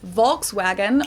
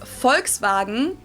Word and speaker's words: Volkswagen: it would be pronounced Volkswagen and not Volkswagen so just imagine that it was spelled with an f and V Instead fwag This literally means